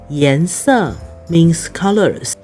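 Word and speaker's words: 顏色: 顏 yán 色 sè означает цвета.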